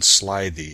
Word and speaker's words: slithy: me: how to pronounce slithy toves. The I in slithy is long, as in writhe, and toves is pronounced so as to rhyme with groves.